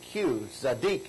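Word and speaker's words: tzedeq: So this would be T-Z-E-D-E-Q, zadik is how we pronounce that.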